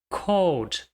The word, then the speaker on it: called: Called, called. Mais uma vez, não existe o som de E.